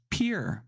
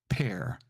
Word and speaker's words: pear: So you have ear, but then somebody says, oh, then PEAR is peer, but it's not, it's pair.